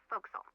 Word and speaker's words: forecastle: of a sailing ship but it's pronounced Fel why is that pronouncing it like an English sailor with no formal education F Castle folville over